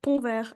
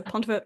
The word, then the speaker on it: Ponvert: My name is Ponver. I know the French pronunciation is really tricky, so pont also works just fine.